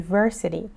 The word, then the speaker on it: university: اینجا چی میگیم؟ میگیم university, تو این حالت ما نیاز داریم همون A رو استفاده کنیم. A university، چون شما که صدا نمیشنوین. That's just a consonant.